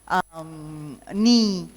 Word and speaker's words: knee: And similarly, we know the K silent words, knife, knee, knock, no. Here the K is silent.